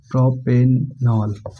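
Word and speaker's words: propanol: पर क्या बनेगा प्रॉप ठीक यहां प ई साइलेंट हो जाएगा तो क्या बन जाएगा प्रोपेनॉल क्या बन जाएगा प्रोपेनॉल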